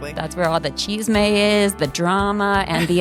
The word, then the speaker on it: chisme: chisme? So, chi is c h i s m and then me um would be the e again cuz it's an end of a word, right?